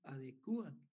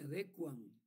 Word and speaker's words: adecuan: Pero la correcta pronunciación de esta palabra es no se adecuan. No se dice no se adecúan, sino que se dice no se adecuan, ¿verdad? Porque no tiene tilde y no va tildada esa palabra.